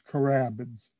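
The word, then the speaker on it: carabids: is called crabbins and you spell that c-a-r-b-i-d-s so it's carabins and this is a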